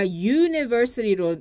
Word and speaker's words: university: 하지만 아, 에, 이, 우 you 만약에 university 같은 경우는 아무리 모음이라도 아, 에, 이, 우의 소리가 아니라 university로 발음이 나오기 때문에 이때는 a university, a university라고 쓰셔야 됩니다.